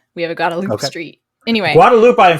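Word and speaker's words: Guadalupe: that is the name that and it's also guadaloop we have a guadaloop street anyway guadaloop I am familiar with yes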